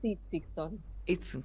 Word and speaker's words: Itzigsohn: Es Itzigson. Bien. Itzigson. No, tiene muchas consonantes, entonces parece difícil, pero...